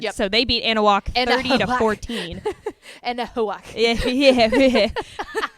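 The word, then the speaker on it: Anahuac: Anna walk or something oh analog anal walk okay so the H is kind of Silent yeah so they beat Ana walk 30 to 14.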